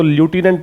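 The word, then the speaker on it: lieutenant: कि दिल्ली के लेफ्टिनेंट governor, लेफ्टिनेंट की स्पेलिंग इंपॉर्टेंट है। इसको वैसे अमेरिकन इंग्लिश में पढ़ोगे तो ल्यूटिनेंट पढ़ते हैं, और फिर आपको स्पेलिंग ठीक भी लगेगी।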